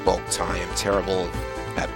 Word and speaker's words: Boktai: I'm sorry, it's pronounced Boktai.